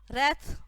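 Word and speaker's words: wreath: रैथ। व्रैथ नहीं है, word है रीथ।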